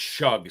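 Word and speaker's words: Shough: It's pronounced shug. So, I'm sorry. Tyler Shug, not shook or whatever I was saying.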